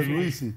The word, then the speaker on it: Pierluisi: Ajá, pero es que ¿cómo es que se pronuncia? Pierluisi.